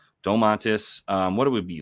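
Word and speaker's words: Domantas: me just pull up domas oh wait that's not how you say his name Dom mantis um what do we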